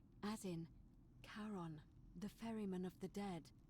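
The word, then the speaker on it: Charon: it's just as you described it only your pronunciation is a little off the name you heard wasn't karen it was c h a r o n as in caron the ferryman of the dead i was right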